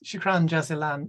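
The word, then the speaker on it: شكرا جزيلا: your own part yeah um how about uh shukran uh jazillion all right that's um uh maybe I said it wrong no no I'm just interesting okay is is thanks shukran jazilan means thank you very much it's Arabic and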